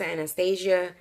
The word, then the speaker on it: Anastasia: kit from annasmith anastacio I pronounced Anastacio some people pronounce Anastasia so yeah Anasazi of